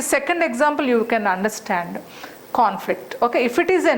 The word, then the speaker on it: conflict: So the first syllable takes longer, first sound is longer and louder, conflict. Suppose if that is used in verb's position, conflict, this con becomes reduced, conflict.